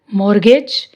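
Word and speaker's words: mortgage: मॉर्गेज, इसमें भी T silent.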